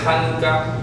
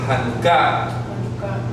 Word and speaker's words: Janukáh: La palabra Hanukkah, J-A-N-U-K-A-H, con tilde en la última A, no se dice Hanukkah, sino Hanukkah. ¿Ok?